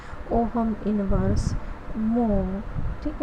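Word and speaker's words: mho: ठीक है, कि कई किताबों में आप इसको इस तरह से लिखा हुआ पाएंगे, इस जैसे ये ओहम, उसकी स्पेलिंग हो गई OHM, तो इसको पढ़ा जाता है मो, इन्वर्स ऑफ ओहम।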